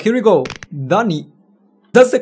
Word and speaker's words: Duny: came to it all right here we go Danny that's the correct pronunciation Danny anyway oh look at the floor